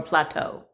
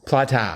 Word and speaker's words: plata: Or plateau. Plata? Plata. Plata. I mean, I'm not sure how you pronounce it. Maybe it's plata. No, it's plata. Oh, okay. In Spanish, A is always an sound. Plata.